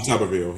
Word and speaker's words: Tuberville: Is it Tuberville? Is that how you say it? Yeah, Tommy Tuberville, yeah.